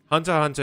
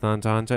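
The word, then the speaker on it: Hunter × Hunter: because Hunter Hunter u why isn't the X pronounced Hunter Hunter? It's just a Japanese thing I believe.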